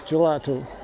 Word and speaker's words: gelato: my favorite things is gelato which is I just pronounced it intentionally in a Italian way ice cream in Portuguese